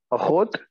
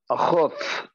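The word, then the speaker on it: אחות: Achot? Ahuth. Okay. Achot. Yes. Achot. All right. And the het should not be pronounced like a chaf. Chaf and het make two different sounds.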